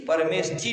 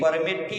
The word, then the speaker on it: परमेठी: परमेष्ठी नहीं, परमेठी है। श कहाँ है?